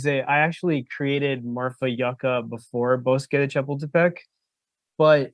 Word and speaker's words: yucca: created Marfa I say Yucca but Yuka is also a proper word for for it it just depends on like Regional differences and the way it's pronounced Yuka can also refer